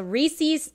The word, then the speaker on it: Reese's: up to his name it rhymes with pieces so Reese's Reese's Pieces Reese's Pieces